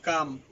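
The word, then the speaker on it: calm: কোন ভাওয়েল না থাকলে এল এর উচ্চারণ অনুচ্চারিত থাকবে যেমন সি এ এল এম কাম পি এল এম ফার্ম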